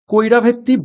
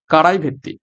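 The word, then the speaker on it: Karaivetti: Sorry, আমি উচ্চারণটা ভুল করলাম। কারাই ভেত্তি, কারাই ভেত্তি বার্ড স্যাংচুয়ারি।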